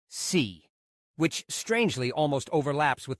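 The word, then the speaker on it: 四: In Chinese, the number 4 is pronounced si, which strangely almost overlaps with the word si, meaning death.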